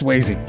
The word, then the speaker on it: Sweasey: It's Sweasey.